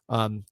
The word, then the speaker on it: Beau: When you look at that battle in Missouri, Beau Pribula, I'm a huge Beau, I think sorry, it's Beau.